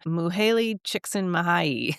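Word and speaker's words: Mihaly Csikszentmihalyi: flow by I can actually say his name Muhaley chicken mahayi he's a Hungarian American psychologist yeah um and He um wrote this book in 1980 called flow the psychology.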